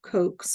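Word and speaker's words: Koch: I'm not 100% sure that that's the correct pronunciation of Coke's, but I looked it up. I saw Coke a couple of times here, or I saw it pronounced as Coke a few times, more than the other ones.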